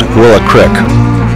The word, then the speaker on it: Willow Creek: This is Leroy Miller and his son Brian's ranch near Willow Creek, pronounced locally as Willow Crick.